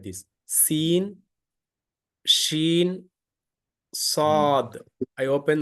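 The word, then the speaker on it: صاد: Seen, sheen, sod. I open like this. Sod. Okay. Sod is a, when you open the mouth vertical, the automatically the sound comes, the heavy sound comes, heavy pronunciation.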